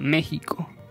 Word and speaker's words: México: Así nació finalmente la palabra México, misma que comenzó una acalorada batalla contra México pronunciada con J o con G.